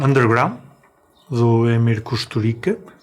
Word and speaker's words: Kusturica: Este filme ganhou a Palma de Ouro em 95, o Underground, do Emir Kusturica, que já me disseram que se pronuncia Kusturica, esdrúxula e tse em vez do c.